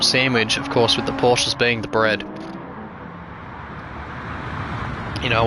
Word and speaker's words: Porsche: So that is a Kennedy Motorsport sandwich, of course, with the Porsches being the bread.